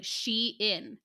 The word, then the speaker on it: Shein: And when I Googled it from their Twitter account, they said it was like Shein.